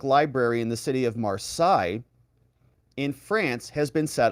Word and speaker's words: Marseille: Marseille is how you say it.